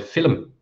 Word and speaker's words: film: to me that um Irish people put two syllables in the word film in English you're going